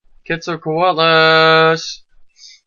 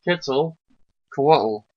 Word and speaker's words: Quetzalcoatl: Quetzalcoatlus. Quetzalcoatl, which is the feathered serpent of... It's actually... Mayan... That last part is pronounced Coatl. Huh? Quetzalcoatl.